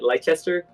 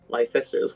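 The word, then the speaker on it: Leicester: how do you say leester Lester how do you say that City leer Lester thank you Lester Lester um yeah yeah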